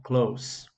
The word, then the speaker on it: close: normalmente o tio closet e tem uma diferença de pronúncia a quando eu verbo fechar a gente pronuncia-se ss aqui com som dizer close the door e quando significa perto ele tem um um som de s mesmo klaus então a nesse caso